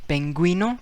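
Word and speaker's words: pingüino: and we say penguino you is pronounced penguino because double dot is there now we got slang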